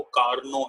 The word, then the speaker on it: Carnot: loan शुक्राणु engine सहित इसकी स्पेलिंग कार्ड नॉट है पढ़ते इसको कारणों है कि साइलेंट हो गए उपकरणों सहित यह एक